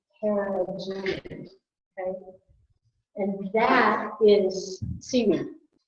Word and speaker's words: carrageenan: Carrageenan.